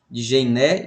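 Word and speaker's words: Djenné: São palavras de pronúncia árabe que às vezes distorce a língua e a fonética da gente. Djené e Timbuktu.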